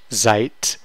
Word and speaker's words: seid: And if you really want to stretch it, you have seid. It's pronounced like a T, so that T ending, even though it's spelled as a D.